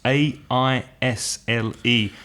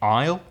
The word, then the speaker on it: aisle: aisle mm-hmm silent s a I SL e and the pronunciation is like the contraction of I will which would be aisle it's exactly the same